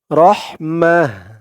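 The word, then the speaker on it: رَحْمَة: আমরা থেমেছি ওয়াকফ করেছি অকফের সময় যদি গুলতা থাকে তখন সেই গুলতাটা হা হয়ে যায় গুলতাকে হা উচ্চারণ করতে হয় আগের অক্ষর দিয়ে ওই গুলতাকে হা বলে ধরতে হয় মিম হা জবর মাহ শুধু অকফ করার কারণেই এই গুলতাটা হা হয়েছে রহমাহ রহমা আশা করি এই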